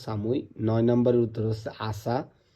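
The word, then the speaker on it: 寒い: নাম্বারের উত্তর হচ্ছে সামুই এই কাঞ্জিটার উচ্চারণ হচ্ছে সামুই নয় নাম্বারের উত্তর হচ্ছে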